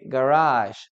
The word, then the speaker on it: garage: Primero, recuerda la pronunciación, ¿ok? Garage. Sh. Al final de la palabra. Garage. ¿Ok? No es garage o con che o cosas por el estilo, ¿ya? Es sh. Garage.